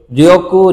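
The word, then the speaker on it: 力: আর চিকারা মানে শক্তি। চিকারা, চিকারা, চিকারা গারিমাস্কা, তোমার কি শক্তি আছে? ওই যে চিকারা শব্দটা ব্যবহার করি আমরা, এই চিকারা মানে হচ্ছে এই কাঞ্জি।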